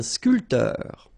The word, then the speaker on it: sculpteur: Un sculpteur. Un sportif. Un peintre. Un photographe. Un journaliste. All right, so un barman. Un sculpteur. Same thing here. This P here is not pronounced.